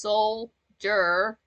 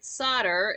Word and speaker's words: solder: speaking of words yeah Soldier is pronounced solder but most people say solder in including myself Soul like like your soul and then jur like like the first part of jury be chap the crown